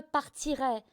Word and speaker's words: partirai: Avec JE au futur il faut penser à RAY, la prononciation comme RAY Charles.Ensuite, il faut, donc je PARTIRAI, on ne dit pas